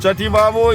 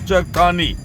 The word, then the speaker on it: Chakthani: That is, Chativavo is a mispronunciation of Chakthani.